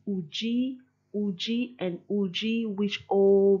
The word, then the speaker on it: Udi: So you can hear how there's almost like a curve on the U when you say Uji for he is.